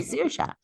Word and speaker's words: Saoirse: If you can say sear and you can say sha, you can say Saoirse.